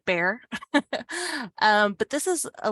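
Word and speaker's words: Bexar: are San Antonio Texas is in Behar County and um you know if you're from here you might pronounce it bear um but this is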